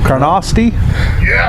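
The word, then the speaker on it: Carnoustie: we at Lloyd what's it how do you pronounce that CA are in owe us di e Karnofsky yes no Greg nailed it all grass nailed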